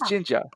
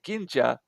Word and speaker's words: Jinja: And of course, they call this hair color ginger, but they pronounce it as Jinja.